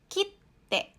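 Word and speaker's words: きって: Jadi, kalau tidak ada tsu kecil di tengahnya, kita bacanya menjadi kite, ya, kite. Nah, tapi kalau diberikan tsu kecil di antaranya, bunyinya menjadi kite. Kite. Jadi double T. Ya, penekanan untuk huruf di belakangnya.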